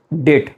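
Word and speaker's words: debt: तो जो डेट है इसका प्रोनाउंसिएशन बी होने की वजह से कुछ लोग डेप्थ ऐसा करते हैं। तो इसमें देखिए ये जो डेप्थ है डेप्ट is wrong pronunciation and the correct one इज़ डेट only डेट।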